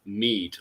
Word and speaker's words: Meath: And also in the middle there in purple, we have Meath. Okay, so just to get the pronunciation, because I know a few people were